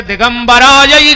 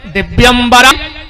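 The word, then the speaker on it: दिव्याम्बराय: मंदार माला कुलताल कायई कपाल मालाम चित शेखरायो, और आदमी जल्दी जल्दी में बोलत है दिगंबराय च दिगंबरायो नमः शिवाय च नमः शिवायो, जो मंत्र गलत होगा। शुद्ध उच्चारण का है दिव्यंबरा चो दिगंबरायो, दिव्यंबराय चो दिगंबरायो।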